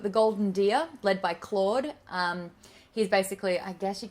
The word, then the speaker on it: Claude: And because Claude rhymes with Maude, so it's Claude and Maude forever.